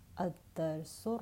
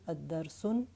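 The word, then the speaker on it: الدرس: It reads Ad-Darsu Rabi'. Rabi' is the ordinal number for fourth, the fourth lesson. And remember the Qamari letters and the Shamsi letters. I'm saying Ad-Darsu. I did not pronounce the lam.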